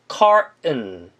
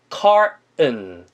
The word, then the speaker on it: carton: 미국 애들은 특이하게 T 발음을 잘 안 하는 경향이 있어서 어떤 식으로 발음이 날 때가 있냐면 carton보다는 carton, carton T 발음을 빼고 발음하는 경우도 있습니다.